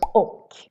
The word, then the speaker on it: och: For example, the word och. Och is how we say and in Swedish. For example, du och jag, you and me. But when we say it really fast, we say instead du och jag, du och jag. So what happened there? The och became an och instead. Du och jag instead of du och jag. So we like to skip things. We skip the ch here and just make